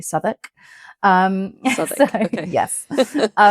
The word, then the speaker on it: Southwark: You will read it as South Walk, but it's actually Southwark.